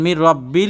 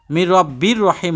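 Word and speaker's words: مِن رَبٍّ رَحِيمٍ: সালামুন কওলাম রব্বির রাহিম দেখেন মির রাব্বিল লেখছে মির রাব্বির রহিম হবে কিন্তু মির রাব্বিল এজন্য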